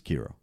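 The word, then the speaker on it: Qi'ra: her name is Keira it's Q - or comma IRA which I would pronounce his Keira okay yeah I feel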